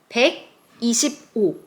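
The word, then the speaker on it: 백이십오: We can divide it. Just hundred plus 20 plus five. All those are read in Sino-Korean numbers. What was hundred just before? Let's remember that. Yes, pick. Pick. And 20, there are two 10s. Easy. And what is number five? Il, i, sam, sa, o. Right. Pick i sip o.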